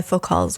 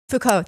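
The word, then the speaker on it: Foucault: as a technology is influenced by fuk Call's wait how do you say his name I only Fuko thank you I have never said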